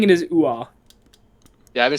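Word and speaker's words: Uhre: It's like Uwa. The R is very, very. There's not like a way to translate the Danish pronunciation Into English. to English. Okay. So there's an R, but it's like so slight you can't hear it.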